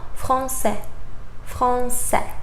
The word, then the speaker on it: français: For example, français. Remember, final S, you won't pronounce it.